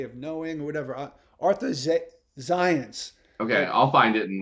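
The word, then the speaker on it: Zajonc: ethnicity that is but he pronounces it zion's like the word science that's great um yeah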